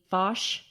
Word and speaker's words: Foch: Yeah, in the construction of a hospital for middle class workers, which today is the Foch Hospital.